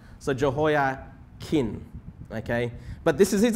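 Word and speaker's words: Jehoiachin: today yeah but yeah h is silent so jo hoya kin okay but this is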